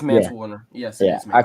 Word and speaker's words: Mance Warner: I think I called him Manson. Yeah, I think it's Manson. Yeah, Mance It's Warner. Mance Warner. It is Mance Warner.